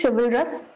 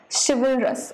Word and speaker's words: chivalrous: Next is chivalrous. Again, check the pronunciation. Chivalrous.